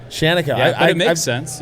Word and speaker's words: Shaniko: Shaniko. Shaniko.